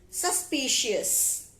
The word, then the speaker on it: suspicious: the word for the day today's word is suspicious suspicious s u s p i c i